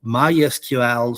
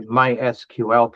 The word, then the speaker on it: MySQL: with in with the MySQL people cuz my instinct is to just say my SQL cuz well that's three syllables instead of four.